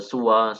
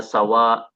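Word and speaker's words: سوى: Fainnahu yuqal maka boleh dikatakan siwa seperti rida. Boleh dibaca sua seperti halnya kata huda. Boleh dibaca sawa seperti halnya kata sama boleh dibaca siwa sebagaimana kata bina.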